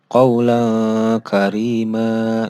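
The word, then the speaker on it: قولا كريما: Jadi ketika nun sukun atau nun mati atau tanwin bertemu dengan huruf qaf dan kaf, dibacanya seperti membaca huruf ang. Jadi qaula karima.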